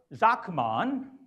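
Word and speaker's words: Sakmann: The second person is Bert Zachmann. You know, in Germany, S is pronounced as Z, and Z as S, okay?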